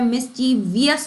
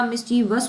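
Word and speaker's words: mischievous: spelling देख चुके हैं मिस ची वियस नहीं होता मिसचिवस होता है तो ये भी नहीं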